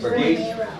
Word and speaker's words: Pegues: Pegues?